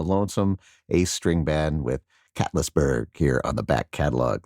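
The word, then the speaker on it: Catlettsburg: And how is this pronounced? Catlessburg. Catlessburg. All right. Cats. I think it's Cat Litzburg.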